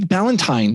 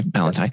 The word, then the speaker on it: Ballanti: so tell me like valentine that's that's the way you say it right yeah you got it okay valentine so i know how